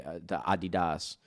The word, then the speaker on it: Adidas: esports, or like the Adidas. Don't say it like that, please. You're in America. Adidas.